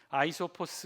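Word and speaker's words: Αἴσωπος: 우리말 표현이 잇어 비고 원래 발음은 요 아이 소 포스 라군 라이 서 버 스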